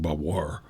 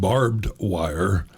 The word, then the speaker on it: barbed wire: But what's interesting in my own background is that since I worked around people who pronounced things like bavoir, when I saw it in print and it said barbed wire, I thought, what is that?